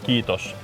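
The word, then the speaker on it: kiitos: We say kitos to everyone from second lutan to general.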